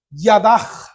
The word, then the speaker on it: yadah: una expresión que es yadah yadah así con y a d a j pero se pone h en el original pero se pronuncia como j y es yadah y